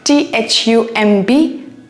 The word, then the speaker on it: thumb: themu la khale re THUMB thumb ra thumb len lagar to ine anti nanglo la B yoro but is silent re B de lo ayo